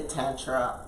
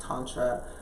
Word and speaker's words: Tantra: Midwest so I say tetra all the time if you were saying it in sanskrit with a good dialect a good accent it's definitely pronounced Tantra but we do a